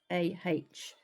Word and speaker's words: Roda: But it is spelt Roda, so it's Rawdah.